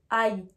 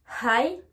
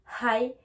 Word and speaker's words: hi: Pour rappel, la lettre H n'est pas une lettre muette en anglais. Donc, il faut la prononcer.